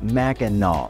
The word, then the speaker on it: Mackinac: Number nine, it's pronounced Mack-in-aw, and we know that there are two spellings that are pronounced the same way: Mackinac Island, Mackinac Bridge, Mackinac City, Mackinac City, and Mackinac Township, all with different spelling.